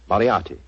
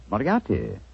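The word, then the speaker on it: Moriarty: Mariati. Moriati.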